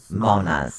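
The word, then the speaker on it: Mannaz: This is Manaz. Manaz. Manaz. It's spelled M-A-N-N-A-Z. It- Manaz. Yes, but it's pronounced M-A-W-N-A-H-Z. Maonaz. Monas. Like Monas. mayonnaise. Maonaz. No, Monas.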